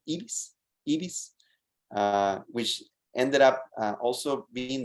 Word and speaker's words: Ibis: Her name is Ibis, which we in Spanish pronounce Ibis, which ended up also being the name of a bird.